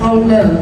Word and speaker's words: halal: So halal is when we say hallelujah how we how we pronounce haul. Haal haal.